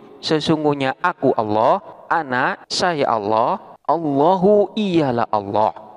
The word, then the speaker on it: أنا: Allah, ana saya Allah, Allahu ialah Allah.